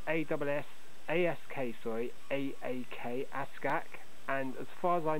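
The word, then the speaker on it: Ask Aak: So it's spelled A-S-S-A-S-K, sorry, A-A-K, Ask-Ak.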